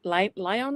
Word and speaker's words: Lyon: lot was when Jaye Lyon is how you say it? Lyon? Yeah, Jaye Lyon. He's like the lion from a circus.